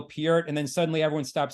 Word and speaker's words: Peart: late great Neil part which I still pronounce his name part I know everyone says because like about 20 years ago I didn't Getty Lee in concert started to say on drums Neil Peart and then suddenly everyone